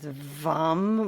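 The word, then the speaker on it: वं: The uh one syllable Sanskrit mantra sound for the belly chakra is vam with a v.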